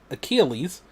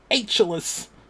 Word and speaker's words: Achilles: And like it said mythological hero Achilles, but he did not know how to pronounce it. So he was like mythological hero Halus.